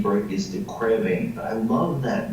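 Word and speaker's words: de Quervain: Now an older name for it is DeQuervain, but I love that name because it rhymes with pain. DeQuervain, pain. DeQuervain, pain.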